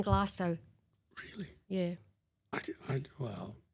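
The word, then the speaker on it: Glenglassaugh: was speaking to Rachel, I did say Glen Glassu, right? And I think she thought she'd lost all hope by because people are are precious. You know, it's like um we might not get it right every time, but just try. So, it's gone glass out.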